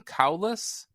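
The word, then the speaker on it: Cowles: noto letters by clayton cowlis is that how we're supposed to holes oh we all have different pronunciations like it's like coals in a fire yes okay sure so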